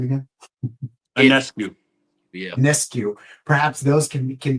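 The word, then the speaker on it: Ionescu: those individuals, Paige Bukers, Sabrina, how do I pronounce her last name again? Anescu.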